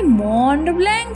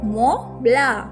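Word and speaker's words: Mont Blanc: পাবো বললেন তা পাবো তবে মন্ড ব্ল্যাঙ্ক নয় লালমোহন বাবু এখন ইউরোপে এসেছেন এখানকার দ্রষ্টব্য গুলোর নাম এর উচ্চারণ ঠিক করে করতে শিখুন ওটা হলো মলা তার মানে অনেকগুলো অক্ষরের কোন উচ্চারণই নাই ফরাসিতে এটা খুব স্বাভাবিক লালমোহন বাবু বেশ কয়েকবার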